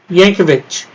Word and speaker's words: Yankovic: As far as I know, it's pronounced Weird Al Yankovic. I could be wrong, but he's putting letters in your mouth.